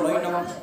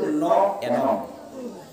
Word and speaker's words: ন এনম: আমরা সাধারণত পড়ব নৈনম, মাস্টার বাবু তাই তো পড়ব নৈনম, কিন্তু নৈনম বললে অর্থ বুঝবে না। এটা প্রাকৃত উচ্চারণ হচ্ছে ন এনম, না আমাকে, ন এনম।